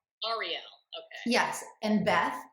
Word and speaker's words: Arielle: it's your name Ariel is that how you pronounce Ariel Ariel okay yes and Beth it's pleasure to meet